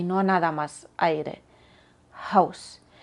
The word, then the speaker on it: Haus: no nada más aire House Pero cuidado que no salga algo como jaus o junt no lo cieres tanto jaus junt con que suene algo es suficiente haus hun Y cuando la sílaba